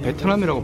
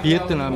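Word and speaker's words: Vietnam: 우리 베트남 베트남 그러는데 이분들 베트남이라고 발음 안 하고요 미에트는 비에트남 이렇게 바른 겁니다 내용과 소음을 피해서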